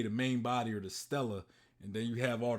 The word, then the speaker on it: Stella: star then we have Stella written as main true body but pronounced as Stella which means Celestial star in Latin it is currently unclear